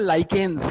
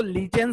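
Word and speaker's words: lichen: Example होता है लाइकेन्स. कुछ लोग इसको लीचेंस भी प्रोनाउंस करते हैं बट हम लाइकेन प्रोनाउंस करेंगे.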